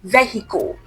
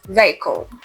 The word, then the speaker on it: vehicle: So for this sound, the middle sound is short. So it's not vehicle, is vehicle.